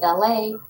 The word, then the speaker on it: Elay: My name is Elay. Wow. I pronounce like LA like the city.